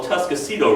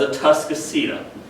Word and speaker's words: Atascocito: All right, and by the way, for years, my mother pronounced that word as Atascocita. I would always correct her saying, stop talking like a hick, there's no U in the word, it's Atascocita. Well, when I was researching the history of this road in the archives, one of the maps spelled the name out phonetically. It's Atascocito, and I'm never going to live that one down.